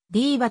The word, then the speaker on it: ディーバ: あとがきによると歌姫の本来のドイツ語の発音に近いのはディバだが diva のほうが響きがいいしかっこいい気がするとのことでディーバとなったとのこと小さな子